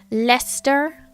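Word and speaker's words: Leicester: forth all the time lester lester sure at least i didn't say shire it's not the biggest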